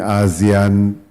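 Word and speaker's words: ASEAN: I first started studying Azan 30 odd years ago in Australia whenever I mentioned Azan people would think I mispronounced Asian right no one really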